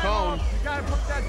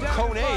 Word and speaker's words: Kone: the corner there with Ishmael cone Coney is actually the proper pronunciation Kevin it's a Swedish name no relation to David Cohn of the New York Yankees he even spelled the same it's spelled k-o-n-e although oddly enough on